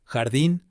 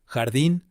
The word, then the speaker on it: jardín: Spanish, সেই স্প্যানিশের উচ্চারণে, অর্থাৎ যেটা স্পেনের স্প্যানিশ, সেটা উচ্চারণে কিন্তু খয়ের মতো উচ্চারণ হয়, খ। এবার আমি অডিও গুলো প্লে করব শব্দের সঙ্গে, আপনারা শুনেই বুঝতে পারবেন। Jamón, jardín, joven, ojo, trabajo.